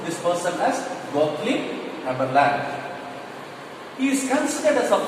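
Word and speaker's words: Gottlieb Haberlandt: Now L-A-N-D-T, Land, we have to pronounce it as Gottlieb, okay, G-O-T-T, but we have to pronounce this person as Gottlieb Haberland.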